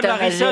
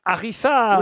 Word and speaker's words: harissa: une chanson de balavie laarissa je te veux si tu veux de moi non mais non c'est pas algérieiss ça s'écrit pas laarissa laarissa c'est la harissa oui là hariss comment